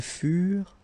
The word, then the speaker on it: furent: Keep in mind that ENT, you know, the ending for the plural form is never pronounced, though.